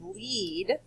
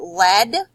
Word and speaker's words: lead: Now, there's another one called lead. And this is a homograph, and that means it can be pronounced two different ways, but it's spelled the same. So if you say it lead, then it would go